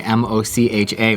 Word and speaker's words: mocha: But in English, there's another word spelled the same way, M-O-C-H-A, which is mocha.